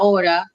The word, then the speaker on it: hora: a vowel right now h isn't a vowel but h isn't pronounced in spanish it takes the um the next letter it takes the the the uh sound of the next letter so laura s means